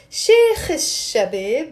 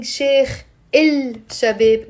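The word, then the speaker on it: شيخ الشباب: Notice how here I'm not pronouncing Sheikh Il Shabib because the letter Sheen is a sun letter. Yes? So you don't say Sheikh Il Shabib. This L, we don't pronounce it. Sheikh Shabib. Sheikh Shabib.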